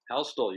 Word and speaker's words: Houstle: Houstle, you pronounce it. Houstle, okay. The T is in there.